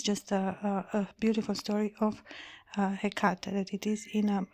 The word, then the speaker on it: Hecate: Hecate, no, has 3 syllables.